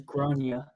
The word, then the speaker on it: Grania: All right, it's Grenier. Yeah, because it says in the parentheses, generally pronounced as Gronya.